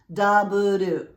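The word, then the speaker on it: ダブル: The first here is double, pronounced daburu, and the second, beef, pronounced, well, beef.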